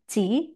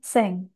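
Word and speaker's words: 千: Kunyominya Chi, onyominya Seng.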